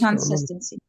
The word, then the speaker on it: consistency: Consistency. Okay. Con cu n. Think of cu n. Consistency. Consist. So the stress is the syllable sis, right?